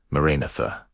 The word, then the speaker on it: Maranatha: When you pronounce Maranatha correctly, the four distinct syllables create an ascending frequency ladder. Ma, ra, na, tha.